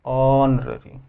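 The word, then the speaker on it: honorary: Teaching is ऑनररी जॉब, ऑनररी, यह silent है, एक सम्मानजनक, अब टीचिंग पढ़ाना एक सम्मानजनक काम है, तो ऑनररी, बिल्कुल एन होगा क्योंकि एक वोकल साउंड है।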